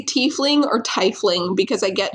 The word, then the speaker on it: tiefling: I know some people who say tiefling, and I'm like, I'm gonna kill you because send them to this podcast. To about 20 something minutes in, and we will tell them it's wrong. It's pronounced tiefling.